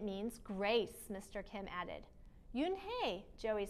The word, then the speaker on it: Unhei: turned to joey she nodded slowly yes it's pronounced yoon hey and it means grace mr kim added yoon hey joey said slowly and this time perfectly it